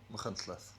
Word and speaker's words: Machynlleth: Machynlleth.